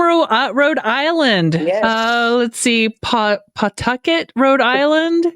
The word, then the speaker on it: Pawtucket: You pretend there's no W in there. Pawtucket. Pawtucket. Okay. Pawtucket. That's how you say it like a native. Pawtucket. There's no W, even though there's a W.